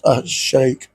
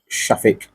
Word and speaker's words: Shafik: the treasury minister and what the I can't pronounce that name right Baroness. Baroness um Minas Shake Shafik.